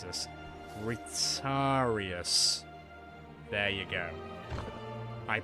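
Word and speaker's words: Retiarius: So we just need a I need to be careful how I pronounce this. Retarius.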